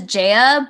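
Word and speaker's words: ZE:A: whatever yeah j it's they pronounce it as jaya but like it's also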